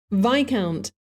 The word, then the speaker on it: Viscount: Viscount, Viscount, Viscount, Viscount, 그게 발음입니다. Viscount는요, V-I-S 한 다음에 C-O-U-N-T, count라는 단어는 따로 있고 그 앞에다가 V-I-S를 붙인 것이죠.